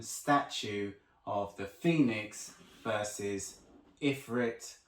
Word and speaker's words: Ifrit: of the Phoenix versus Ifrit, or Afrit, however you want to pronounce it. Choice is yours guys, but I prefer Ifrit.